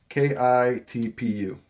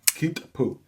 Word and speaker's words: Kitpu: Kitpu. Kitpu.